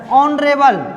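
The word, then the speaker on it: honourable: ऑनरेबल, ऑनरेबल में प्रथम letter क्या है, एच है, एच एक व्यंजन है लेकिन इसकी प्रथम उच्चारण ध्वनि ऑनरेबल ओ है और ओ एक वोवेल है, वोवेल से पूर्व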